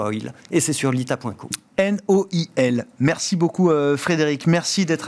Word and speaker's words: Noil: Alors, c'est Noil. Ça, c'est Noil. N-O-I-L. Moi, j'ai prononcé No Oil parce que ça me semble évident que ça se prononce comme ça.